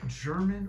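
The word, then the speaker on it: Germán: And by the way, is it German or Herman? All these years I've called you German. Everybody calls me German. But it's Herman, right? In Spanish it's Herman, yeah. So if people speak Spanish, they call me Herman.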